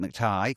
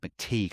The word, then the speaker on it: McTighe: So far we've got Pete McTighe, or Pete McTeague, I believe it's pronounced actually, the guy who creates Wentworth.